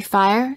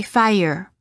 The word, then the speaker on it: fire: the r follows it there is a slight uh sound that is added after certain vowels making it sound almost as if the word contains an extra syllable for example fire don't say fire say fire words for practice adding